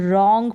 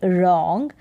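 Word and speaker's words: wrong: इसको पढ़ेंगे यहां पर ये जो डब्लू है ये साइलेंट है रंग पढ़ा जाएगा डब्लू आर ओ एन जी रॉन्ग यहां पर आर से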